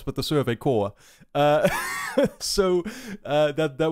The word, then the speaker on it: corps: told me that like it's not supposed to be pronounced corpse it's supposed supposed to be pronounced core and i didn't even